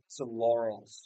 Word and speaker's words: laurel: For pronunciation it's two syllables laurel. The first syllable rhymes with door and the second is a softer subtle o.